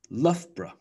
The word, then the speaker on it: Loughborough: So we have Scarborough, Scarborough, Loughborough, Loughborough, Peterborough, Peterborough, Farnborough, Farnborough.